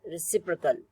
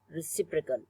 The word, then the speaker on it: reciprocal: Like this word is pronounced as reciprocal, reciprocal, and this word is pronounced as alternative, alternative, and this one third word is pronounced as competitive, competitive, okay. The second syllable is stressed, and here again second